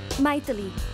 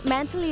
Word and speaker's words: Maithili: Maithili. Oh. Abroad में मेरे नाम को अजीब से प्रोनाउंस करते हैं. मैंथली नहीं, मंथली वीकली ऐसा कहते हैं, इसलिए शॉर्ट फॉर्म में मीट बना दिया.